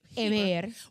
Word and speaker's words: Heber: Heber.